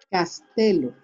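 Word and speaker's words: castello: sé cuándo este castillo castelo recuerden que la doble en italiano se pronuncia como una sola l el hermano morado claro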